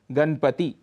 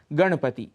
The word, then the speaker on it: गणपति: पर मनाया जाता है अक्सर वहां पर हम नकार के स्थान पर नकार का प्रयोग करते हैं उदाहरण के लिए गणपति ऐसा उच्चारण कर जाते हैं इसका शुद्ध उच्चारण है गणपति इसी प्रकार कहीं-कहीं हम